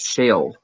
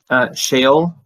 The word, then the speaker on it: Sheol: everybody else listening, look into the idea of Sheol, because that was kind of like the more ancient Jews' view of the afterlife. What's it called again? Sheol.